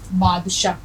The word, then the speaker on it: بادشاہ: اثر نہیں آ سکتا۔ اب دیکھیے بادشاہ، بے پلس الف پلس دال پلس شین پلس الف پلس گول والی ہے، بادشاہ۔ اب اس کو شاہ